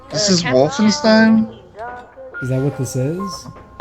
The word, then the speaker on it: Wolfenstein: Oh, it's pronounced Wolfenstein.